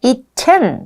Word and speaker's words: eaten: eaten 이라고 발음을 해요. eaten. 그러니까 eaten 보다는 eaten.